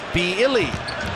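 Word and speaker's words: Willy: on Gomez now it's spelled Willie but pronounced with a B beilly Nan Gomez okay we've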